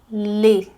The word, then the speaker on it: les: os em francês é lê lê tá os é lê então o é l hoje lê le lê L lê um é mais fechadinho o bico le le lê le